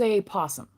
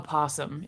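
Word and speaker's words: opossum: Uh Herbert Hoover was with Billy, and Billy was a possum. or a a possum is how it's spelled, but we say possum, right?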